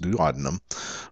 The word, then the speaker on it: duodenum: We have the duodenum. I've also heard it pronounced duodenum, but the duodenum, which is actually attached to the stomach.